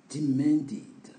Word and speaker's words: demanded: Donc, demand, exiger, demanded. Donc, ça, c'est un verbe dont la prononciation, on attend id à la fin parce que le D est une lettre forte.